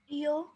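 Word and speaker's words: ewe: ইউ। ইউ। তাহলে এটা প্রথম অক্ষরটা হচ্ছে ই, কিন্তু উচ্চারণ হচ্ছে ইউ।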